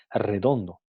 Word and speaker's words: redondo: A pesar de que se escribe con la grafía R, empieza con una R, se pronuncia como un alófono, un sonido R múltiple, ¿no?